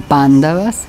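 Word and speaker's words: Pāṇḍava: otra mañana isra mañana los occidentales lo pronunciamos así pero es debido a la ausencia de familiaridad que pronunciamos mal los nombres para nosotros es gracioso pero estos bandadas son pándavas cuando significa blanco son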